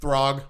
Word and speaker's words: Throg: Throg.